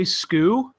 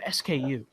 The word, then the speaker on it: SKU: switch is it okay some people say sko do you know if it's like is that is that a proper way to pronounce it or because I've always said SKU yeah I always say